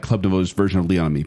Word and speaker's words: Club Nouveau: Club Nouveau. Oh, just Club Nouveau.